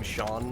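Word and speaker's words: Sean: fairly famous actor uh his name is Shawn Bean but it's spelled scene Bean if you don't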